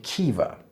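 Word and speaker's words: Caoimhe: I'd suggest you try pronouncing these traditional Irish names. That would be Niamh, Siobhan, and Kiva.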